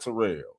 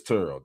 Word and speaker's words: Terrell: Okay, cuz he No, he pronounces his name Turo. It's not Terrell. Okay, but it is Turo.